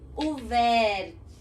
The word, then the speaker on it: ouvert: A próxima palavra era ouvert, que se escreve ouvert. Quando nós temos uma palavra em francês com esse U, nós falamos U, né? Então seria ouvert. E esse T mudo no final.